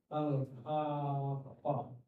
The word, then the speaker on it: Al-Haqqah: surah selanjutnya yaitu surah alhaa yang dari segi pelafalannya pun dibacanya berat jadi panjang tajwid seperti itu ini mengisyaratkan bahwasanya pembahasan